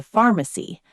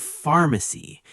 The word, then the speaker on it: pharmacy: You take this paper to the pharmacy. The pharmacist will give you the medicine. Let's look at the pronunciation of pharmacy. It starts with PH, but it sounds like an F.